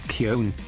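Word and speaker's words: Köln: gbt Americans pronounced it cologne in Germany we pronounce it Kon yeah but for whatever reason in English it's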